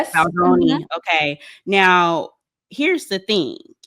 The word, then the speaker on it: Baldoni: um deposition, this this case with Justin Baldani, Baldini, is how you say his name. Um Justin Baldoni. Yes, Baldoni.